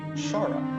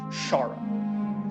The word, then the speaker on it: Xarrah: So you actually know that the term Queen of the Nine is used for this female pact demon who's known as Shara. It's spelled Xarrah. Shara.